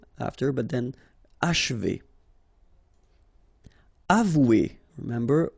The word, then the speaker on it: achever: Achever, okay? And then if you want to pronounce it the way French people will do, so don't insist too much on this and you will get achever, achever.